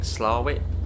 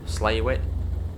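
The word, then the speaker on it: Slaithwaite: Now, someone put in the comments that you actually pronounce it, I think, Slowit. Slow. Slaywit essentially. That's how you pronounce Slafwit. Yeah, Slowit or Slaywit.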